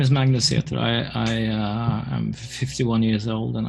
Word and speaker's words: Magnus Seter: Magnus I pronounced that right oh well it's Magnus theater but english-speaking people can't pronounce my name so that's the English close